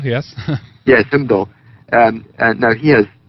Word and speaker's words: Heimdall: I mean, the whole thing of Heimdall, and you can help me with the pronunciation. Heimdall, yes. Yes, Heimdall.